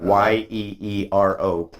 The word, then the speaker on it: gyro: It's like Yeero.